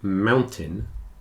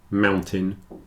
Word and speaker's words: mountain: an e curtain certon whereas these two captain and Mountain it's a little more like an I but for the same reason the stress is on the first syllable the second syllable is contracted down a bit so in all four